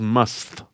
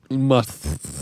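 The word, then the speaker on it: musth: finally the word must i'm not pronouncing must like mike tyson or anything the word is must must um let's see a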